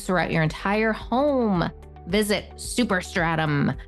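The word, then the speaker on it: Superstratum: your entire home visit super stratum I have to say it like that like it's a super right super stratum that's super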